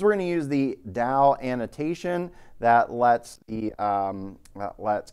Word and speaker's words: DAO: So data access object could be pronounced DAO or DAO, rhymes with cow.